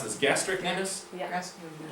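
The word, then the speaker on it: gastrocnemius: Is that How do you pronounce this? Gastricnemius? Yeah. Gastricnemius. Gastricnemius.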